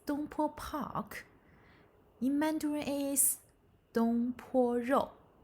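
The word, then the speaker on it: 东坡: how to say the dish name yes it's don po park in mandarin is don very good so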